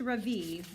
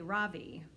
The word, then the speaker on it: Ravi: It's pronounced Ravi with a soft ra and a strong V. In Sanskrit, it means the sun. In America, people call me Ravi with the stress on the first syllable.